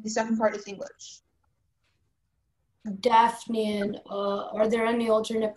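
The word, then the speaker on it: daphnean: Daphnian, are there any alternate pronunciations? Just the one, Daphnian.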